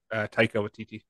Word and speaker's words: Taika Waititi: How do you pronounce his name? Taika Waititi.